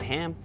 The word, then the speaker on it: -ham: Is it ham? Is it Turns out, it's not entirely random. There's a principle here, which has to do with what linguists sometimes call stress clash or avoiding stress clash.